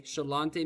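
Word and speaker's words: Sláinte: But that's how it's said. Shalante.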